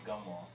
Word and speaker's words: Gamal: I always tell people to pronounce with a lowercase g. I know everybody sees that G and they want to do Jamal, and it's not Jamal, it's Gamal.